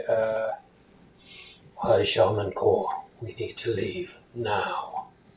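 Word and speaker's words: Korr: Um, you'll hear this guy say, "Uh, why Shiaan Core, we need to leave now." And Core is spelled K O R R.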